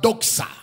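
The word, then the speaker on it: δόξα: And it's the Greek word doxa.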